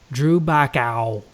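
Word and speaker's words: Drew Baccawe: So, Drew Backow. Tobacco. Drew Backow. Oh, like tobacco. No, tobacco. Drew Backo. Tobacco. He says it rhymes with Chewbacca, but I'm thinking I like Dude Drew Backo.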